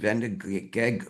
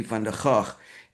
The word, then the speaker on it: Van der Gaag: But in America, this is a Dutch author, and it's actually Van der Gaag and Snyder, but the Americans pronounce it Van der Gag.